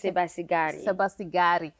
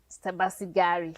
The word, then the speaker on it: Sebasibari: I made it Americanish. Oh, it's Sebasibari. Sebasibari. So I'm here with our special guest, Sebasibari, and she is just